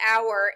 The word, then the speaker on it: hour: special science the first hour is h-o-u-r it sounds like hour like our class like a group of people but it's not it's